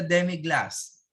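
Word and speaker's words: demi-glace: and canyon spell where you pronounce it glass pronounce then we have also the demi glass okay which is the demiglaze very pronounced demi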